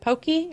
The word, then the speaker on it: poke: that okay okay mm-hmm like poke but they pronounce it pokey or pokey mm-hmm you'll have to